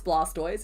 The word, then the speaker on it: Blastoise: I know it's Blastoise. It's just like I realized recently he was a tortoise and with tortoise you pronounce the T O I S E as making him Blastoise.